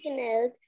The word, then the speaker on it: knelt: Yasmin knelt down, Knelt. clouding, K is silent.